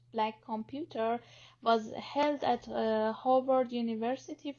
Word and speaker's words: Black Compute Here: The inaugural BWIC conference, Black Compute Here, pronounced Black Computer, was held at Howard University for students, faculty, and professionals in 2017.